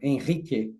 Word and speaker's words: Henrique: Like Giacomo said, my name is Henrique, or Henrique, or Henrique, like they pronounce in Portuguese.